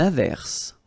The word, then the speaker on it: averse: Averse. Okay. S is pronounced. The E is not pronounced.